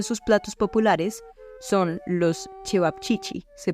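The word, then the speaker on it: ćevapčići: Por ejemplo, uno de sus platos populares son los cevapcici, se pronuncian así, pero son el tipo de kebab pequeño como una salchicha de carne picada que también estaban en Bosnia.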